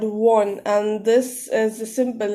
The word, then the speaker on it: 원: And it is written, it is written like this, and it is pronounced as won.